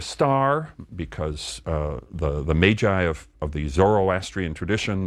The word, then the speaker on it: Magi: if we put that into Latin plural it is Maggi Greek plural magoi but in the more familiar English pronunciation Magi these are the figures